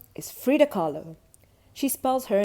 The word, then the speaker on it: Frida Kahlo: me dressing up like frida kahlo rhymes with follow frida kahlo is from mexico she